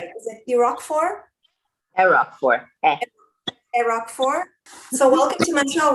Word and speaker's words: Erockfor: Erockfor.